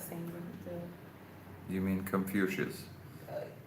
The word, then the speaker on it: Confucius: in the You mean Confucius? Uh is it Confucius in English? Con- Confuci in Russian. Ah, okay. Okay, it's Confucius. Confucius.